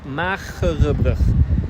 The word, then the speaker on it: Magere Brug: but we have a very hard G, so it is say mag. Yeah, magere brug. Magere brug. So, But that other G you pronounce the wrong way. Brug. The other Brug. way, brug. brug. Because there is no vowel, I think, after it.